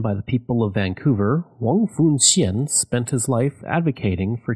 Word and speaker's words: Wong Foon Sien: I took 3 years of Mandarin in high school, so I believe it's pronounced Wong Foon Sien.